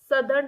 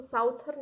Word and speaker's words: southern: एक आपका नॉर्दर्न hemisphere और दूसरा आपका सदर्न हेमिस्फीयर। ठीक है, सदर्न की स्पेलिंग को अच्छे से याद कर लीजिए, SOUTHERN। इसको साउथर्न नहीं पढ़ते हैं, इसको सदर्न ही पढ़ते हैं।